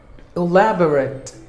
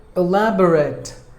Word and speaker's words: elaborate: pronunciations were number to elaborate elaborate it's an adjective a lab or act elaborate elaborate there are four syllables in this word and we have to stress the second syllable lab should be given